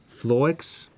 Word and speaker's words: Floex: One soundtrack that I absolutely love is the how to pronounce the name. It's Floex.